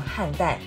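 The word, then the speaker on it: 菡萏: 努力农每日一注音时间，这两个字念成汉蛋，意味着还没有开包的莲花。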